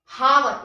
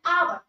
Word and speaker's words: hour: का, जैसे कि HOUR, ये है हावर, इसको पढ़ेंगे HOUR हावर, लेकिन इसमें हम लोग H को साइलेंट कर देते हैं, ठीक है। तो यहाँ पर हावर है तो इसको पढ़ते हैं आवर, लेकिन क्योंकि ये H साइलेंट है तो हमें सुनाई दे रहा है आवर, और आवर जो ये